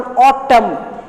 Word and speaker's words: autumn: And the last one, autumn. N is silent there.